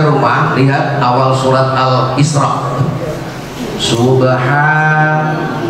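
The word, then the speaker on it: سبحان: lihat awal surat al-isra Subhan bacanya maksud saya di situ ada fathah tegak bacanya ha itu harus panjang fathah tegak Mad batal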